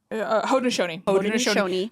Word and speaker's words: Haudenosaunee: I am working to connecting with my, you want to pronounce that one for me? Haudenosaunee.